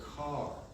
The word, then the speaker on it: Kerr: Her maiden name was Kerr, or Carr, as she used to pronounce it.